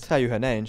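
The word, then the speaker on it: Theo Hernández: Teo Hernandez, yeah.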